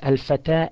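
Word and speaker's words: الفتى: Notice al-fata ends with an alif maqsura, and therefore it does not have dhamma or kasra. Always you say a at the end of such words.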